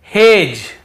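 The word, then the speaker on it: hedge: रहे हैं फिर देखिए हेज और वेज यहां पर भी डी को हम नहीं पढ़ रहे हैं ब्रिज एज हेज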